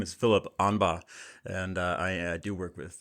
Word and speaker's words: Aughinbaugh: Most people do mess up the last name, but my name is Phil Aughinbaugh, and I do work with the wonderful Dr.